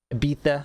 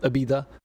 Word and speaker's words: Ibiza: So not only are they giving us, it's not a full Ibiza, all right? You got to say it like you got a lisp.